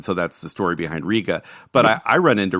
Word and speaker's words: Rega: really big um and that's Ria and everybody calls it Rea and it's Ria and I asked a dealer I go is it Ria or Rea he goes it's Ria because that's how Roy Gandy says it and so it's